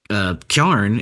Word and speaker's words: carrion: But kjarn, everybody who says kjarn, that's just the regional pronunciation of carrion.